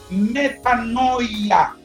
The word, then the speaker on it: metanoia: y no peques más, es la palabra metanoia, así como se escribe: M-E-T-A-N-O-I-A en griego.